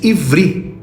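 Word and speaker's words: עברי: A palavra hebraica usada na Torá pronuncia-se ivri, que significa de ou pertencente à palavra sempre.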